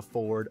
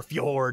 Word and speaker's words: fjord: It's a fjord or a ford or fjord if you say it with the pronunciation.